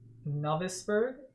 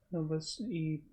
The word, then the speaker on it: Novosibirsk: Because it's Novosib, so Sib, IRSK. Bursk, yeah. Novosibirsk. If we're saying that wrong, someone please correct us. Yeah, we're probably saying it wrong. Novosibirsk. Yeah, I'm inclined to say like Biersk as well.